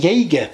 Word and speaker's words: Yaegir: Box are the hearin I think Jager is probably how it's going to be pronounced um these are essentially